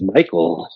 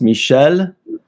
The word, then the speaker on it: Michel: I thought it was Michael you say Michelle I go excuse me my notse yeah I mean the way it's spelled is the French way which is pronounced Michelle and then the last